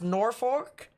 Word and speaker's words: Norfolk: has been issued pds severe thunderstorm watch it's pronounced norfolk all right i'll pronounce it more like that